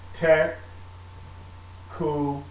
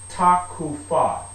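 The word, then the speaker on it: תקופה: And like I said before, we'll get into the pronunciation of these words a little bit later on, but I say takufah. All right, I'm not, observing the and this F should be actually a PH.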